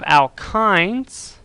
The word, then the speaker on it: alkyne: next up we have alkynes the Y kind of makes an I sound I'm gonna put an I in parenthesis there it's an alkyne otherwise out they would it would sound exactly the same as alkenes so this